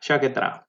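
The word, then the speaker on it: Sciacchetrà: How do you Shakatra? Is that right? Yeah. Shakatra.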